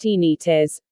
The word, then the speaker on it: tinnitus: heart palpitations lethargy tinnitus tinnitus pronounced teeny tis or ringing in the